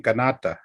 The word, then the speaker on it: Kanata: Yes, you come into Canada, and even Canada is a mispronunciation. It's a Neocall word saying Kanata.